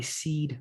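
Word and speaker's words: PSEAD: the thing it's actually what i call my seed method and it's spelled p-s-e-a-d so the truth of the matter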